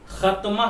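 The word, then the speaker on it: ختمہ: खत्मा पहले उर्दू में लिख लेते हैं, खे ते और मीम के साथ हा मिला करके, खे ते का नुक्ता मीम हा, खत्मा। हिंदी में इसे प्रोनाउंस करने के लिए लिख देते हैं ताकि आसानी से हम और आप प्रोनाउंस कर सकें। तो लिखेंगे खा आधा ता मा, और यहां पर आह की बिंदी लगा देंगे क्योंकि यहां हा आ रहा है, इसलिए ये हो जाएगा खत्मा।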